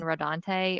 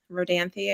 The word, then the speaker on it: Rodanthe: was younger I watched the movie Nights in rodante or Knights and rodents I don't know how it said does anybody here know Rodanthe I think okay I've been saying it wrong